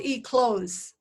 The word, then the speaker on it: eclose: all right it's called eclose how do you spell that e-c-l-o-s-e they eat clothes even when a caterpillar comes out it's called e-close close so that's something new